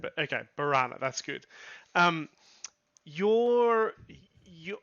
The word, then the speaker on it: Barrana: pronouncing it correctly barana barana is correct okay because I always think of piranha um but then I